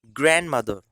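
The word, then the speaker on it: grandmother: यहाँ पर जो डी है उसको आपको साइलेंट रखना है, डी लेटर को साइलेंट रखेंगे तो इसको हम लोग बोलने वाले हैं, इसको प्रोनाउंस करने वाले हैं ग्रैंड मदर।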